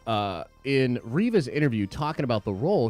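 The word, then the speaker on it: Reva: says her character named riva that rhymes with reba and not the way everyone has pronounced it much love take my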